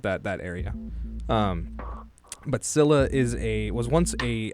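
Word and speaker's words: Scylla: So, I'll start with Sila, as I'll probably call it, or Skila, though, is how it should actually be pronounced.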